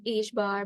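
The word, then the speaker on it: ħ: Delta p as greater than or equal to H bar by 2.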